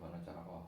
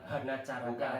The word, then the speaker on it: hana caraka: Ada 10 kata di dalam huruf hono coroko. Hono coroko, apalagi ya? Doto sawala, podo joyonya, mogo bodo. Bacanya O, bukan A. Bukan A ya, bukan hana caraka, tapi hono coroko.